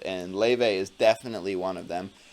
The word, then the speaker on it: Laufey: Laufey, and that is Laufey. Laufey. She is Icelandic, so she's got funny pronunciations.